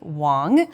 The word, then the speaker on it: Wang: I'm here with Kimberly Wong who is a new friend of mine it's spelled with an A but pronounced with an o thank you and Kimberly